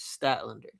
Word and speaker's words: Statlander: women's world champion and Statlander versus, which I was mispronouncing last time. I apologize. It is Statlander. Chris Statlander and Isla Dawn, who